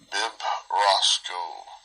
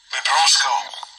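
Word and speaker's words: βιβρώσκω: Comes from B-I-B-R-O-S-K-O. Bibrosco. I think that's the verb form of it. That's how we pronounce it. Strong's G 977. Bibrosco. Bibrosco. Bibrosco. Like my big brosco.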